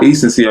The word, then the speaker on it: Ecency: So, or Ecency, I believe. I think it's kind of like decency without the D.